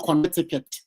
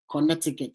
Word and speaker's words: Connecticut: Southern Connecticut Connecticut Connecticut I us to say connetic but when I came here ask said no you see right now I don't pronounce contic connectic again yeah this Americans they have their own way of pronouncing Connecticut so they say Connecticut Connecticut they say it very quick Connecticut oh God all right